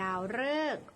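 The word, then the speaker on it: ดาวฤกษ์: หรือ สิ่ง ศักดิ์สิทธิ์ ค่ะ ที่ 2 ดาว ฤกษ์ ออก เสียง เรอ หมาย ถึง ดาว มี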